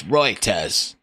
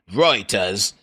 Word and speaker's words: Reuters: It's not Reuters, it's Reuters. Because we made that shit up, the pronunciation. The E is just, Reuters.